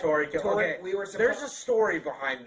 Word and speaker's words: Toriko: Tokyo. My bad. Tokyo. I mispronounce things. It's Toriko.